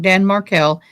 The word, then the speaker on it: Markel: Dan Markell.